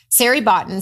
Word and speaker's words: Sari Botton: Sari Botton sounds like Larry Cotton.